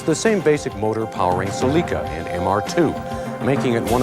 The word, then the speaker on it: Celica: Yes, it's pronounced Celica. I watched the product training. First, let's examine the four-cylinder. It's the same basic motor powering Celica and MR2, making it one of the most